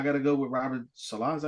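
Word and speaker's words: Saleh: Obviously, the answer to go with is McDermott, but I got to go with Robert Salah. Is that how you say his name? Yeah, Salah.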